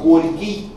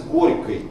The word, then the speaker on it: горький: То есть вместо привычного нам «горький» произносилось «горькой». «Киевский» – «киевский», «маяковский» – «маяковский».